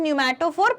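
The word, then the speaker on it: pneumatophore: so this is न्यूमैटोफोर, P silent है यहाँ पे, पी न्यूमैटोफोर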